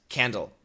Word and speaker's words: candle: the candle candle candle do not cancel the D candle is a context word it's an important word 99.999% of the time the American will pronounce candle as candle no cancellation except the